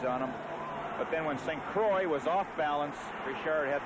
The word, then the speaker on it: St. Croix: I must say I have a little trouble talking to Jacques sitting in Quebec City and talking about Rick St. Croix, but that is the way he prefers it pronounced.